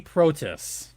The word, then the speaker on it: Protas: Alexei Protas is actually how you pronounce his name.